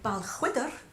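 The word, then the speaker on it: Balquhidder: So the next number is actually taking us to Stirlingshire, which is where Balchwydder is, spelt with a Q-U-H, surprisingly.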